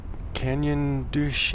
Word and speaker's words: Canyon de Chelly: Canyon Douche. It's kind of a weird way. It doesn't sound like it's spelled, but anyways, if you